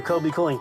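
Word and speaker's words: Kobie Cooling: It's Fred Kobe with your Kobe Cooling tip of the day. Kobe Cooling has been around a very long time. It's spelled kind of funny too. K-O-B-I-E K-O-O-L-I-N-G.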